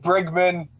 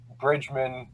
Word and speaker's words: Brigman: It's subjective. Things are subjective. Brigman, but I've been called, Bridgman, Bergman.